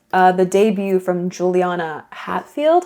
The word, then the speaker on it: Hatfield: the debut from Juliana Hatfield Hotfield. I always honestly forget her name and I'm sorry. Juliana Juliana Hat Hatfield Hatfield. I don't know why I want to say it like Hotfield or something.